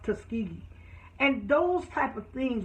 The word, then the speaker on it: Tuskegee: says well can I just tell you it's pronounced Tuskegee and those type of things when she comes